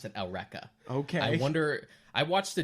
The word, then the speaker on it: Eureka: how you said it for some reason they pronounce that L Rekha okay wonder I watched a dub back in